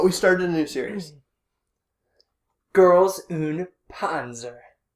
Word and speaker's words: Girls und Panzer: started a new series girls oon ponzer yes you have to say it like with the little german accent and everything girls could also panzer